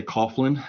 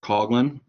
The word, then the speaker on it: Coughlin: it is I believe cogin I've seen it pronounced several ways but the Temptation is to say Coughlin that is not correct it's the Cog so father cogin I think it may